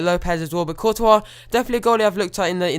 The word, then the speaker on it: Courtois: Balotelli, just saved there by the goalkeeper Thibaut Courtois, I do believe it's actually pronounced.